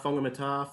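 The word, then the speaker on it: Whangamatā: They pronounce WH as a F. Yeah, yeah, Like exactly. Wongamata, Fongamata, Fongaday.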